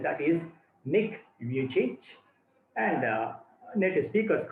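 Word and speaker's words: Nick Vujicic: change i remind you the pronunciation is a serbian pronunciation that is nick you change and native speakers call him nikki vijaysik no problem with that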